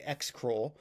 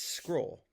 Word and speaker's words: Xcrol: Now, the idea here is I'm just going to walk you through because first of all, people have been calling it XCroll or XCroll. It's not. It's scroll.